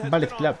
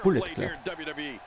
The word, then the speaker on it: Bullet Club: Tiene mucha gente que le llama Ballet Club y es Bullet Club. Se pronuncia así, tal cual. Debería ser Ballet por las balas, pero se pronuncia Bullet.